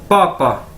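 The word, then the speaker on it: 爸爸: Chinese के अंदर मैं आपको बता दूं कि बी जो होता है वो पी के तरह प्रोनाउंस किया जाता है, यानी पी बोला जाता है, पे बोला जाता है, यानी ये बी ए मतलब पा, पापा, ठीक है, जिस तरह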